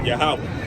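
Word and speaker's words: Yahweh: you know what I'm saying he is but yahwah that's that's how you say it in that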